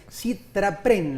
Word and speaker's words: SITRAPREN: Estoy con Ana María González, primero la secretaria adjunta del sindicato de prensa, Citrapren, lo pronuncié bien, ¿no?